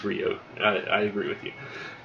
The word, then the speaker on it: Ryu: know it is but i've always called him ryu um i know technically it is rio i i agree with